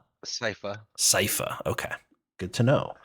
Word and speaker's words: Sypha: I think I pronounced it right. Is it Sypha? Sypha.